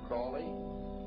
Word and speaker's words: Crowley: an individual about aliser Crawley he likes to have his name pronounced Crowley to rhyme with holy and uh the satanists